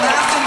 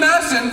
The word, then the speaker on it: Masson: Oh, Masson, producer. Sorry. Masson. The K is silent.